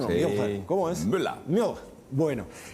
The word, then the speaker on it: Müller: ¿Se pronuncia así en alemán o no? Sí. Müller.